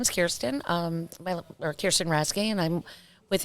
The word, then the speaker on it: Kirsten: Her name is Kirsten. I hope I pronounced your name right.